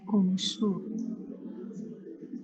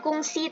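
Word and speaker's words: gongsi: Jung eh kungs aja ngomongnya perusahaan lah anggaplah kungsu kungsu kungsu. Heeh. Kungsi itu artinya perusahaan ee G O N G S I. Jadi bacanya bukan kungsi tapi kungs.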